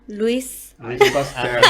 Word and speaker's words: Louis Pasteur: O sea, aquí tenemos el científico Louis. Pasteur. Ya lo quitaste. No sé pronunciar Sí, francés.